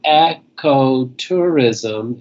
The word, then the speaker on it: ecotourism: And you would think that because they are talking about the same type of thing, the ecology, that you would say start them out the same way, but they're pronounced differently. Ecological, the first one, and ecotourism is the second one.